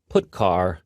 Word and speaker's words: putchar: They are pronounced printf, putchar, and puts.